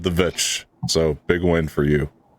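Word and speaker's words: The VVitch: And he said The Vitch. So big win for you. So, I mean, that is clearly a V.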